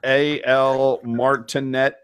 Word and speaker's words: Al Martinet: Follow at AL Martinet. Which I'm pronouncing it so you know how to spell it. That's all. Al Martinet. That's what I'm doing. Al Martinet. That's how you pronounce it.